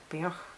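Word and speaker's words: Beork: It's Björk? Beorg. It's the one that's spelled B-E-O-R-K and looks like a B, which is where the true heart is, the message of personal empowerment.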